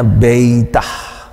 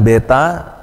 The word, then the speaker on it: beta: kedua ahalfah gitu kemudian ini beta jadi pengucapannya beitah gitu Tapi kalau anda hanya mengatakan beta juga enggak masalah ya karena kita orang Indonesia nah kemudian untuk transliterasi